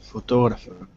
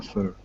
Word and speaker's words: photographer: three uh photographer M so which is a stressed syllable second one photographer photographer yeah photographer photographer uhuh just I'm not hearing the RS though photographer photographer that's it okay so the second syllable stressed very good um what